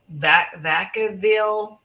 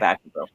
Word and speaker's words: Vacaville: Um, Now also there is a couple that lived in, I'm not sure how you pronounce this, Vacaville, Vacaville, Vacaville, Vaca California. Vacaville. Yep, Okay. Vacaville.